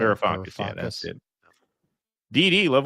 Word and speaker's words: Varoufakis: Varoufakis, yeah, that's it.